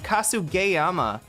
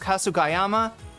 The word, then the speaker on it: Kasugayama: of it while uh you know, cuz it's Kasu Gayyama that it's actually pronounced Kasugayama.